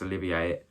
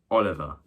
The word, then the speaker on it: Olivier: I pronounced Laurence Olivier, Laurence Oliver.